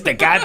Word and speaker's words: Tecate: It's Tecate, ese. Tecate.